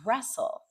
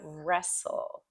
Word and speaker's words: wrestle: My brothers and I would wrestle together when we were kids. Be careful of that word there. Wrestle. Okay. The spelling is strange. The pronunciation is strange. Wrestle.